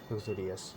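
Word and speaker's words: uxorious: রয়েছে সেই হচ্ছে কি লাক্সারিয়াস, ঠিক আছে। লাক্সারিয়াসটা উচ্চারণটা আক্স হবে, এইভাবে উচ্চারণ করবে, ঠিক আছে।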